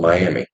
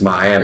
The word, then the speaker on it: Miami: youah Miami yeah yeah people get pissed off if called Miami if you call Miami Oklahoma people over there they get pissed off about that no it's Miami are you serious huh